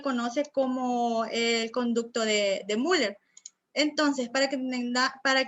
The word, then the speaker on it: Müller: ve que el de müller como el mes y no como se pronuncia la palabra lleva diéresis si lleva bien miller mil años bueno como